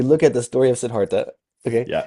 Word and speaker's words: Siddhartha: Sidarta close. Yeah you got it. You got it. as we look at the story of Sedartha.